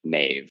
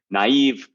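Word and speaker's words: naïve: it tells us that there's a syllable break there the idea is that we don't read naive like Nave right which we would be inclined to do if it were conforming to Standard English pronunciation right so we know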